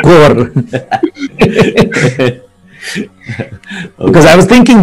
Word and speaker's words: corps: The military pronunciation is they call it the core. Instead, they don't call it corpse, they just call it core.